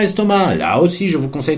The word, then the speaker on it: estomac: pour estomac attention à estomac là aussi je vous conseille d'aller le voir dans le dictionnaire parce qu'estomac a une consonne muette qu'on prononce dans le sud de la France parfois 4 est-ce que c'est